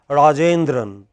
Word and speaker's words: Rajendran: In all languages of the world, in our languages also, you know, when somebody is called Rajendran, which part of his name is most stressed? J.